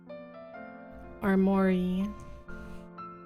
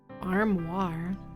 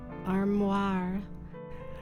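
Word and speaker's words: armoire: arm Armory arm Armory Armory oh it's a wardrobe okay how do you pronounce it though armir armoir ah okay the princess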